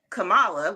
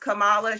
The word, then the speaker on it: Kamala: So you can pronounce that Kamala, which that's how Middle Easterners would typically pronounce it, especially in the Indian, Indian country. But yes, can it be pronounced Kamala? Sure.